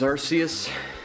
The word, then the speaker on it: Arceus: Next we have Pokemon Legends Arceus. I've been told it's pronounced Arceus, but the reason why it's apparently pronounced Arceus instead of Arceus is because they don't want the term arse in its title.